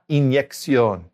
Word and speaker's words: inyección: Just a quick reminder, we've talked about this before, but when a word ends in ION in Spanish, we know two things about it. First of all, we know it has an accent on the O, and we know it's feminine.